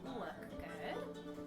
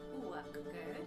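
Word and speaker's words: uachdar: And the way that you say cream in Gaelic is uachgad. So that's uachgad, that's cream.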